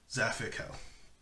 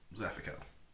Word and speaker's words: Zaphikel: The A in the middle, take that out. That's how you're supposed to pronounce it.